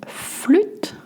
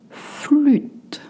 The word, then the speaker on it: flûte: Une flûte de champagne. Une flûte de champagne. Flûte is hard to say. You need to bring your lips together like whistling. Flûte.